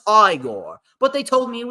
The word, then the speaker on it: Igor: something from from Young Frankenstein you must be eigor no it's pronounced aigor but they told me it was eigor well